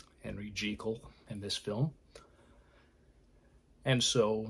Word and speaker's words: Jekyll: you know everybody pretty much called calls him Jekyll because you know when you look at that name that's what it is what it looks like it's pronounced but you know it's jekal Henry jekal in this film and so you know he's